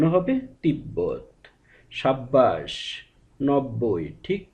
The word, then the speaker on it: তিব্বত: উচ্চারণ স্বাভাবিক থাকে অর্থাৎ ব এর সঙ্গে যদি ব ফলা হিসেবে যুক্ত থাকে সেক্ষেত্রে ব এর উচ্চারণ স্বাভাবিক থাকবে যেমন তিব্বত উচ্চারণ হবে তিব্বত সাব্বাস 90 ঠিক ব